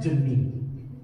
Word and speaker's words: Demi: She stops me. It's pronounced Demi.